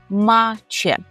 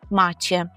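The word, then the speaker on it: macie: звертаємося до групи людей скажемо маче маче акуратно з вимовою че маче що ви маєте на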